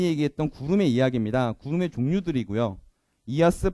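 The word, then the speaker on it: IaaS: 구름의 이야기입니다 구름의 종류들이고요 이하스 파스 사스라고 읽고 가장 앞에 있는 이하스는 어떤 분들은 아이아스라고 읽는 분도 계십니다 뭐 심플하게 말씀이 이런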